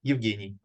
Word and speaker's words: Evgeny: I'll pass it to evgeny or is it how do you say your name uh but again in Russian it sounds like yugini uh New Guinea yeah